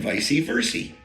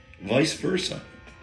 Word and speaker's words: vice versa: to receive him and vice Versi vice versa it is vice versa by the way that is the only crap correct pronunciation vice versa for all you vice